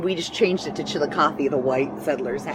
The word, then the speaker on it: Chillicothe: Chillicothe.